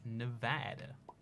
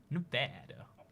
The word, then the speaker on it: Nevada: I've been to Colorado, Utah, California, New Mexico, Arizona, and Nevada. Nevada. That's how you say it in America. I don't know why you gotta say Nevada. It's clearly Nevada, but apparently that's weird.